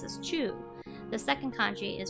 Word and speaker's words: 中: You might remember from before that the first kanji is pronounced as chu.